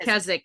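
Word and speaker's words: Keswick: Season two was Lady Hanbury and season 3 she's Lady Kezwick. Kzzik. Yeah. Kezwick. There's a W, but she pronounces it Lady Kzik in the show.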